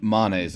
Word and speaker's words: Manes: And yes, it is pronounced Manise. Okay, it's a Latin word.